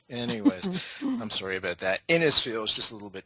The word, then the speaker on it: Innisfil: She's a hypnotherapist in Innisfil. Have I pronounced that correctly? No, it's actually Innisfil.